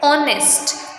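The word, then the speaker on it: honest: और एक ये हो गया ऑनेस्ट, इसको हम क्या पढ़ते हैं, ऑनेस्ट, तो यहाँ पे भी एच साइलेंट है इसलिए हम यूज़ करेंगे एन।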